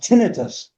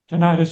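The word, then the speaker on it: tinnitus: I believe it's pronounced tinitus. There's two ones. Either way, tenitus or tenitus. Either one is correct.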